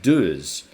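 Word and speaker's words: Deuz: Gorilla, Latitude 64, Vortex, and Duz have each gotten a disc PDGA approved.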